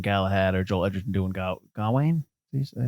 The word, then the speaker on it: Gawain: They might not have put all that stuff in there from Hugh Dancy doing Galahad or Joel Edgerton doing Gawain. Did I say it right? Gawain, yeah.